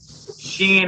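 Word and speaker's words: shin: Although Shen is pronounced with a sh as in shape and sin is pronounced as S as in sun.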